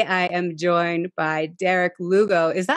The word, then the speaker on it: Lugo: am joined by derek lugo is that how you say your last name by the way oh yes rhymes with uh hugo perfect okay so here